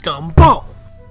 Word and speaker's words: Scumbo: It's pronounced Scumbo. General? A word? This is such a waste of time. I have a perfectly good hacksaw at home. That'll make the scum talk. It's Scumbo, sir, and hacksaws were outlawed by the Geneva Convention.